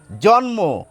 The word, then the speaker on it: জন্ম: জন্ম, ন পাচ্ছেন, ময়ের উচ্চারণ পাচ্ছেন।